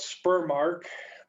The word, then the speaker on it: spermarche: For males, it's called spermarche. Nobody ever uses that word, but kind of rhymes with menarche.